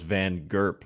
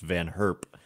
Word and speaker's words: van Herp: on like team Netherlands I always thought it was Van gerp but it's I think pronounced van herp anyway that's beside the